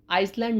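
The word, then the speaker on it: island: अब तक हम बोलते आइसलैंड लेकिन आइसलैंड नहीं बोलना है। आइसलैंड इसमें एस साइलेंट है। जब एस साइलेंट है तो यह बन गया आइसलैंड। इसकी प्रोनाउंस होगी आइसलैंड।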